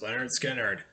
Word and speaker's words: Lynyrd Skynyrd: and their debut album pronounced Leonard Skynyrd has its 50th Anniversary I think it's this